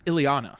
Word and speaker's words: Ileana: Elena Douglas? You said Elena. It's Ileana. Ileana Douglas.